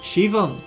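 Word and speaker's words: Siobhan: SE Sean Sean it's oh it's from pronounced Shivan what a menacing name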